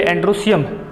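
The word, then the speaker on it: androecium: उसी तरह एंड्रोइशियम लिखते हैं, लेकिन बोलते एंड्रोसियम।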